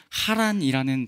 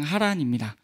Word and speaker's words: 하란: 이곳의 지명 하란은 데라의 아들 먼저 죽은 하란과 같다라고 생각이 들지만 발음이 다릅니다. 지명하란은 하란이라는 발음이고요. 약간 가래 끓는 발음이라고 하는데 그 발음이고 먼저 죽은 하란은 우리말의 그 히웃 발음 그냥 하란입니다.